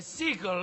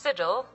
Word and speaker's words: sigil: Those days, back when my bear was more than just a sigil on my shield. It's pronounced sigil. Mark my words, computer lady!